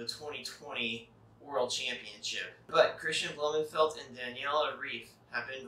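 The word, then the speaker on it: Blummenfelt: european powers on the men's side norwegian christian blumenfeldt that's how you pronounce it he took first in the championship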